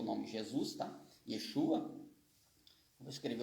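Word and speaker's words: ישוע: Eu falei que ele não tem som, mas ele no hebraico antigo e hoje no moderno também ele tem som de A. Então Yeshua.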